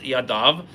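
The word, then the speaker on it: ידיו: So it's written it's pronounced yadav but written yado sounds like one hand which means that it's the right hand.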